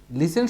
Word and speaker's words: listen: লিসেন শব্দের অর্থ হচ্ছে শোনা। এখানেও কিন্তু টি আছে, বাট প্রনাউন্সিয়েশন হয় নাই, উচ্চারণ হয় নাই, লিসেন।